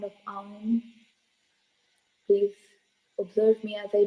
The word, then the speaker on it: Aum: You have to take a deep breath and exhale with the sound of Aum.